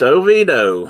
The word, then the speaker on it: Oviedo: over the country and it's shelbyville but they pronounce it shovel it's a tennessee thing i guess okay it's oviedo i got it man i don't have me